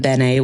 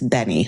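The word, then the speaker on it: benne: Benny wafers, which I heard them call them Benet wafers. It's Benny, like Benny, even though it's not spelled like that.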